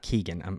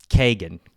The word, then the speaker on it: Keoghan: The movie stars, it's not Barry Keoghan. It's not Keegan. I'm mispronouncing his last name. It's Barry Kagan.